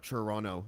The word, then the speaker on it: Toronto: I've lived out of Toronto for 6 years, so now I pronounce the second T. Sorry about that. But when I go to Toronto and I go to